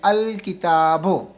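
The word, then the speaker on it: الكتاب: शजर तो में अ शजर तो में अलिफ जो है वो बरा रास्त जाके शीन के साथ मिल रहा है लाम खामोश है अ शजर तो जबकि कम इसमें अल जो है लाम की आवाज निकल रही है अल किताबो तो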